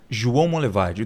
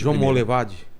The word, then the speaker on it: João Monlevade: no rio não em Minas Gerais como chama João Monlevade duvido você conseguir pronunciar corretamente João Monlevade João Monlevade e isso vamos levar é perto